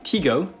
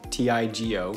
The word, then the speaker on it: Tigo: some workarounds to do teego t-i-g-o i think is pronounced tigo provides a solution for